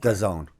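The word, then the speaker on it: DAZN: okay all right it does own all right freakin start saying the zone stop saying you don't know how to say it it's does own like calzone but with a D in front of doesn't all right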